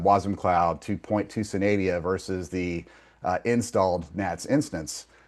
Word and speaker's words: Synadia: Anyways, I think it's Canadia? Synadia. Thank you, Synadia.